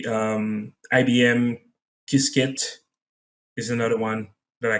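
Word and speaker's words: Qiskit: good one um i would say um ibm kisket is another one that i can refer anybody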